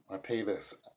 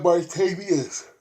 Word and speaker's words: Martavis: I'm sorry, it's spelled Martavis Bryant. Martavis. I was saying Martavius.